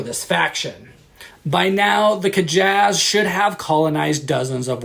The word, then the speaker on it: Kjas: pronounce it myself but i think it's kajaz kavicdelin that's the best